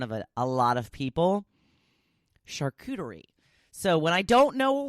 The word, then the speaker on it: charcuterie: a proper pronunciation and I did look it up today and I'm pretty sure I am properly pronounciating shekhu turi I have to practice